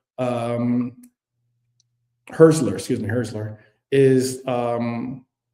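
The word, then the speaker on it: Hürzeler: Uh is that um Huseler is Hustler, I think that's how you pronounce his name. Uh Fabian Hustler um Herszler, excuse me, Herszler is um has one win in 13 Premier League matches.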